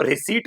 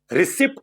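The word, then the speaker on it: receipt: बेटा इसको रिसीप्ट पढ़ते हैं। रिसीप्ट नहीं पढ़ते बेटा पी होता है साइलेंट।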